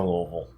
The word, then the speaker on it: Louisville: I'm from Louisville.